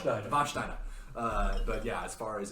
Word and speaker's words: Warsteiner: Pronounce it with an SH. There you go. Warsteiner.